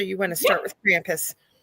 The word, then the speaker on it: Krampus: Laurel and he said you say it wrong it is not Krampus it is Krampus and uh told me